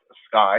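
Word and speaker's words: SCI: the the macro-level department it's pronounced sky is what we call his social change in innovation now this focus is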